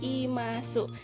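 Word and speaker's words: います: Terus kalau misalnya benda hidup ini akhirannya adalah imasu. Dibacanya adalah imas. Oke, ini saya kotakin, inget ya untuk akhirannya berbeda. Benda mati arimas, benda hidup imas.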